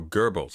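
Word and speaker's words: Goebbels: No, Gerbles. It's German.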